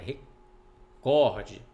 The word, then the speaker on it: recorde: recorde se fosse se fosse proparoxítona ela seria acentuada recorde mas ela não é acentuada então é recorde é paroxítona todas as proparoxítonas são